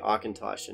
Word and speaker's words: Auchentoshan: not phonetic but they they sound out how you're meant to say akintoshin which is i think